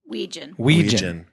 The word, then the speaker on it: Wetjen: The T is silent, and I still couldn't do it right.